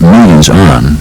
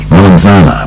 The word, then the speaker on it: melanzana: out, for example, that what was sometimes described as millions on, and other times as melon son, was actually a Sicilian mispronunciation of the Italian word melanzana, which means eggplant, which is mafia parlance for a black person.